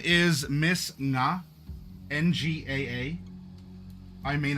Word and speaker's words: Nga: N G A. I may not be pronouncing that correct. Uh na like two syllables. Nga.